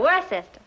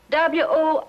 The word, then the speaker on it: Worcester: Yeah, the Earl of Worcester.